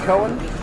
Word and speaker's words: Cohen: Almost a very nice conversion on lane 20 by Ryan Cohen. It is pronounced Cohen, right? That looks like Cohen.